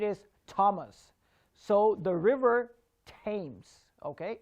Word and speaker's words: Thames: thomas so the river tames okay it's not river of thames it's river tames okay remember whenever th